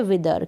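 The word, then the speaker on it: whether: यहाँ पर भी WH के बाद आई है, WH के बाद आई होगा तो हम एच का उच्चारण, एच को हम नहीं पढ़ेंगे। और ये जो TH है, TH का प्रोनाउंसिएशन होगा द, थ नहीं पढ़ेंगे इस TH को, द पढ़ेंगे। हिंदी में दिया है यहाँ पर द, विदर। ठीक है, विदर।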